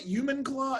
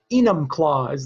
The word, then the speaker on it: Enumclaw: and i i do i say it right human claw human claw enum claws is the word so